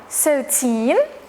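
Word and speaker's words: thirteen: the rania so example 13 the stress on the second syllable while in 30 the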